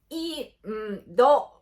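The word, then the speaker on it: インド: And today's vocabulary is India in Japanese, which is Indo. I bet some of you guys are thinking that it sounds a little bit funny because it kind of sounds like India, but it's different. The Japanese pronunciation of India is influenced by the Chinese language, and I think in China it's called Hindu. Well, a long time ago,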